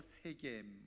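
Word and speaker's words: Shechem: 네, 자, 우리 계속해서 지명 속에 담긴 하나님의 뜻과 섭리, 일곱 번째로 세겜 우리 한번 같이 보도록 하겠습니다. 자, 우리 세겜이라는 것은 그냥 히브리어로 말 그대로 정확하게 발음하면 쉐켐이라는 말인데요, 뜻은 어깨라고 하는 뜻입니다.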